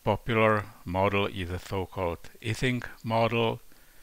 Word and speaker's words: Ising: The most popular model is the so-called Ising model. Mr. Ising was a German, so I believe it's more appropriate to pronounce his name as Ising, not Ising, as you can hear from English-speaking people.